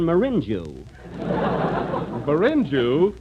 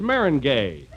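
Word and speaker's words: meringue: I'm famous for my lemon marinu binu well that's Maring gay oh marin oh is that the way it's pronounced oh see you learn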